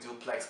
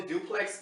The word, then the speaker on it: DUPLX: This thing is spelled DUPLX, I'm just calling it duplex because this is the most rather sensible option I can take. I mean, calling it duplex is kind of weird, okay?